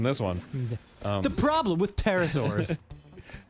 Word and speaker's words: pterosaurs: The problem with pterosaurs. I know the P is silent, but I had to try to make it work.